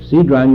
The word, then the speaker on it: Kidron: Cedron you'll find in the Old Testament too. It's spelled there Kidron, and here it's Cedron.